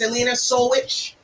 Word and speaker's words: Jelena Solujic: that the camera is elena soulwitch we just got the right um pronunciation of it it's serbian it's perfect pronounced you know i'm telling